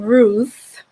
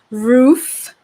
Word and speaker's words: Ruth: So it wasn't Ruth with a TH at the end. It was Ruth.